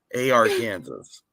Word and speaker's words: Arkansas: it was our Kansas A.R Kansas when when people were calling it Arkansas I was like I've